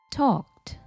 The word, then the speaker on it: talked: හැබැයි මතක තියාගන්න මෙතන ed දැම්මට pronounce කරනකොට t ශබ්දයක් තමයි එන්නේ. talked. Okay?